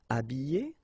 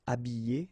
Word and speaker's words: habiller: Habiller, habiller, déshabiller, déshabiller. Ok, so you can see that here, this H here, this letter is not pronounced, so habiller and then déshabiller.